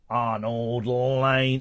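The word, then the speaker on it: Arnold Layne: Is that how it's pronounced? Yeah, Arnold Lane.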